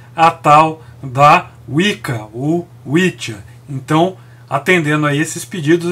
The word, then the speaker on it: Wicca: Que é assim que se pronuncia, é Witcha e não Wicca.